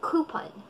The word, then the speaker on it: coupon: In English, ang tamang pagkakabigkas nito ay coupon.